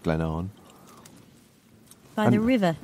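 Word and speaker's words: Glen Avon: there and started down Glenn Haven which is pronounced Glennon by the river aen which is nothing like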